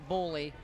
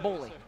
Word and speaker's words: Gbollie: He says, just take the G off.